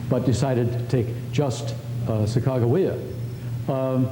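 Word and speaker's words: Sacagawea: uh sagaa uh the the journalists incidentally always spelled it with a G not with a J so it's reasonable to assume that they always said the third syllable with a hard G Saka um and uh here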